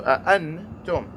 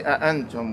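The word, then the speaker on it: أنتم: So the noon is pronounced with the nasality, with the tongue lowered. So I wouldn't say antum.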